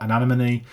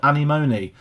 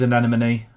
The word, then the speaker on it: Anemone: I spent months thinking this was called Animoney. Um, but it is an enemy, I think.